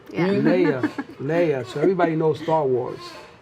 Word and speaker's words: Leia: what's funny is that I couldn't really pronounce her name when I first met her. And the reason I began to remember her name was by the movie Star Wars. I started saying Princess Leia.